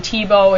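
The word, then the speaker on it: Thiebaud: hundred years or so wayne tebow is one of my favorite artists not spelled like the football player but it sounds like it who does this method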